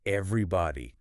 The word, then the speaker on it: everybody: Everybody sounds like everybody. 4 syllables. Stress on the first part.